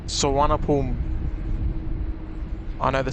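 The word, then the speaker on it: Suvarnabhumi: let's print out the airport in bangkok is pronounced sawanapulm i know the spelling is doesn't look like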